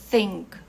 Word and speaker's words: think: Então, para fazer a pronúncia do TH, a gente precisa colocar a língua entre os dentes e assoprar por entre os dentes. Think, think. E esse I aqui fica como se fosse um E. Aí ele é bem reduzido, bem suave.